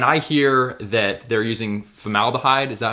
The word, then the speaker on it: formaldehyde: know, like when I hear that they're using formaldehyde, is that how you say it? Formaldehyde, yeah.